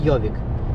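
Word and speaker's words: Gjøvik: донизу йдемо так містечко ну пишеться читається як йовік в цьому містечку навіть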